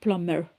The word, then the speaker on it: plumber: ஸோ இங்கிலீஷில் வந்து ப்ளம்மர். PLUMMER. ப்ளம்மர். I think PLUMBER, பட் பிஏ வந்து ப்ரொனவுன்ஸ் பண்ண மாட்டோம். ப்ளம்மர்.